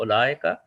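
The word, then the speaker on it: أولئك: Like we said, ulaika, and we said we do not pronounce the vowel in the middle. We just go ulaika.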